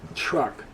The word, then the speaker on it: truck: Okay, so don't forget that in English, TR is a cha sound.